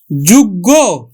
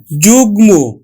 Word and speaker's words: যুগ্ম: উচ্চারণ হল গুলম গয়ে দেখো যুগ্য না এটা উচ্চারণ হবে কিন্তু যুগ্ম যুগ্ম উচ্চারণ হবে কিন্তু